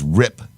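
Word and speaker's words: Ripp: people going across Michael rip I found out how you pronounced the last name it's Rip r i PP e rip then people that are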